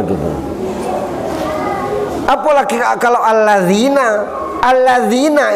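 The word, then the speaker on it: الذين: Alladzina itu huruf Al-Qurannya alif, lam, zal, digigit lidahnya, ya, nun. Alladzina.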